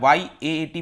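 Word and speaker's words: yacht: ध्यान रखना है, इसको याट कहा जाता है, YAAT प्रोनाउंस किया जाता है।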